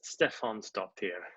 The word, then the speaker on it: Stefánsdóttir: hi hi now am i pronouncing your name right err this Stefan so dear please correct me it's pretty good Stefan stopped here I'll try it I